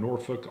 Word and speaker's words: Norfolk: We're up in Norfolk, all kinds of Navy guys.